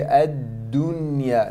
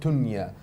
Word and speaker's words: ad-dunya: Don't make it silent like a letter ta. Okay, ad-dunya, not tunya. Da. Make sure it is loud.